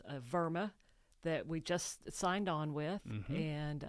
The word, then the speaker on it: WERMA: Now, Verma is a European German company and um in Germany W is pronounced like we in the United States pronounce it with a V sound. Yes, it is. It is Verma. Verma.